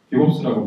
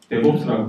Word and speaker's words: DevOps: 처음에 제가 데보스팀에 왔을 때 영어로 보면 DV 옵스에서 디벨롭먼트와 옵스가 합쳐졌으니까 디봅스가 아닐까, 디봅스라고 불렀습니다. 근데 이제 맨날 영어만 쓰는 사람들의 발음을 들어보니 데봅스라고 하더라고요. 그래서 그 사람들, 실제로 영어를 쓰는 사람들이 데봅스라고 하니까 저도 이제 데봅스라고 부르겠습니다. 디봅스가 아니고 데봅스라고 부르시면 되겠습니다.